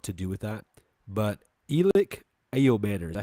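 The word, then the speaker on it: Elic Ayomanor: But Elick Ayomanor, is that how you say his name?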